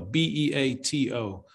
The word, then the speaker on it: Beato: He's got some really, it's spelled Beato, B-E-A-T-O. Uh-huh. But he says his name is Rick Beato. So I was calling it Rick Beato for a long time, but it's Rick Beato.